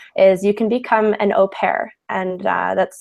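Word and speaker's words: au pair: also for guys is you can become an opare and uh that's spelled a u space p a i r opare and that's a type of Nanny baby sitter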